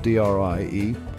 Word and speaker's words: dri: areas female Yaks called Dr e pronounced Dre provide nutritious milk this